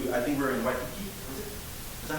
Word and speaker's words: Waikiki: So I remember when we were traveling from the airport to, I think we were in Waikiki.